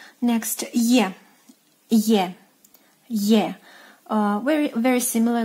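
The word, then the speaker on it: Е: Next, Ye.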